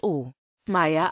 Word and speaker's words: Omeyer: der Umgebung von müllhausen im deutschen kann oer auch o Meer ausgesprochen werden